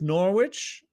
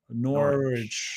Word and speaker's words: Norwich: He did it twice with Norwich and each time immediately Norwich. Norwich. Norwich. Remember you got the English. It's their words. So even though it's bonkers, we have to pronounce it there.